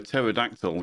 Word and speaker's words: pterodactyl: Why can't you hear a pterodactyl go to the bathroom? I don't know. Because the P is silent.